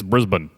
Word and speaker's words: Brisbane: next day it's pronounced Brisbane okay my apologies next episode I explain my bad guys it's pronounced Brisbane more messages still wrong it's Brisbane say it like there are no vowels in it Brisbane I finally decided